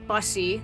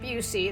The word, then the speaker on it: Busse: cover of busy Woods busy like a bus not Bucy that's how you pronounce it everybody and actually uh my